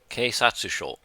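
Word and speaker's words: 警察署: How do you pronounce police station? Keisatsusho.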